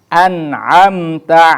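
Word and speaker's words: أَنْعَمْتَ: Nah, kemudian an'amta 'alaihim. An itu hukumnya adalah idhar halqi. An, nah, nunnya harus dijelaskan, diterangkan atau harus jelas pengucapannya.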